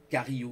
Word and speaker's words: Carillo: Carillo, vous tapez Jean Carillo, c'est comme ça se prononce, Carillo.